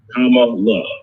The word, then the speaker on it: Kamala: make sure, you know, Kamala, we always want to say her name, right? So Senator Kamala Harris, right? I always tell people, Kamala, right? That's the best way to think about it when we're doing it there.